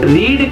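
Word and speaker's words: read: रीड की second form भी spelling same होती है और पढ़ा जाता है रेड।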